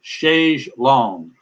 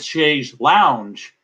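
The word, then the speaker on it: chaise longue: rsvp by friday we move on to shaysh long now we've also said she's lounge but she and in fact when you look it up if you google it it will sometimes spell it shays long which is wrong chair and sometimes it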